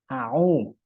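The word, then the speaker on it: أعوذ: auah bedanya di mana au tunaikan hak tiap huruf a u jangan au gitu karena makhrajnya apa tempat keluarnya huruf beda antara a Hamzah dengan u Ain yang satu di dua-duanya ditenggorokkan tapi yang satu ditenggorokkan bagian bagian bawah yang satu di eh bagian tengah yang satu di bagian ee bawah jadi kalau mau Mau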